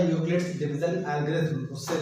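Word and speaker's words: Euclid's: Okay, यूक्लिड्स division lemma, ये ई silent होता है तो उसको हम यूक्लिड्स पढ़ते हैं।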